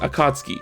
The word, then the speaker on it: Akatsuki: which is actually pronounced akatsuki this one i think a lot of people messed up as well you're supposed to pronounce the u sound but just barely i chalked this up